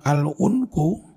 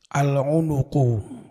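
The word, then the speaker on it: العنق: alhulumu seperti juga leher bacanya bukan alunku Tapi bacanya apa leher alunuqu fuul unuk hulum dawuh sop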